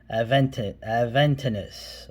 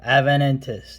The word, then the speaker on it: Aventinus: Okay, Schneider Aventinus or Aventinus, which is mispronouncing it, but it sounds cooler.